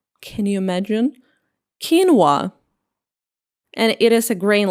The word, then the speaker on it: quinoa: It is pronounced like quinoa. Can you imagine quinoa?